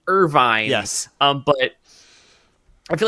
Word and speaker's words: Irvine: first off I was I've been pronouncing his name as Irving for the entire time so thank you Captain